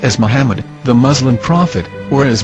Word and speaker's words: Muhammad: According to Ben Yehuda's Hebrew English Dictionary, it is correctly pronounced as Muhammad, not Mamad. So how we're going to know for sure if it's pronounced as Muhammad, the Muslim prophet, or